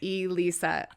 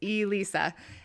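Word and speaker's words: Elisa: like lisa with the long e right i'm into e-learning well i'm e-lisa i've written i love e-books right like it's e-lisa and and i never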